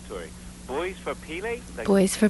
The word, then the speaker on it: Pele: Now, see if I pronounce this right, Tori. Boys for Pele? Boys for Pele, yes.